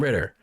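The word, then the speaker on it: Ridder: desmond ritter from cincinnati now i thought this his actual name was uh pronounced writer you know desmond ryder i don't know it there's there's a double d in his last name so anyway desmond ritter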